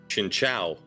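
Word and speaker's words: Chingling: lot chinchu chincha chinchu no it's literally pronounced chincha oh oh like that's its actual official pronunciation that is dumb like in the anime in any in like Pokedex 3D it's always chincha huh where have I been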